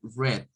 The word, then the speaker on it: read: diríamos you read you Red Red así como suena el color rojo Así vamos a pronunciar